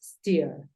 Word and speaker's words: steer: y como la pronuncias en este caso es ste no es porque el sonido en inglés aparece desde la s ste Claro que como hay una r puede haber ahí un Matiz steer listo vamos con la